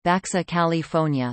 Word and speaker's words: Baja California: Baja California, Spanish pronunciation, Baxa California, listen, English, Lower California. Officially the free and sovereign state of Baja California, Spanish, Estado Libre y Soberano de Baja California, is a state in Mexico.